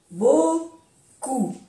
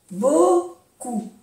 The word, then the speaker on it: beaucoup: Beaucoup. No se pronuncia la P. Beaucoup.